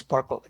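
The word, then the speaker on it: SPARQL: like sql okay so this is pronounced sparkle sparkling so sparkle is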